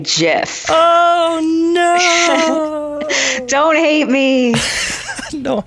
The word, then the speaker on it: GIF: is just a troll he knows that it's pronounced gift but the imager is one of those great